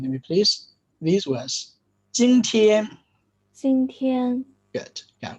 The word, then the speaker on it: 今天: Yeah, with no hesitation between the syllables. 今天, as if it is just one word, as if you are saying the multi-syllabic English words: mountain, geography, anthropology, and so on. You never utter this word syllable by syllable. You say them in one go as fluently as possible.